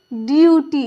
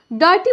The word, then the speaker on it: duty: तो देखिए क्या होगा, ये ड्यूटी। इसे जो है ना आप डॉटी मत पढ़िएगा।